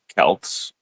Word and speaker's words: Celts: in the pronunciation because the actual pronunciation of the word Celts, Celtic, is with a hard K.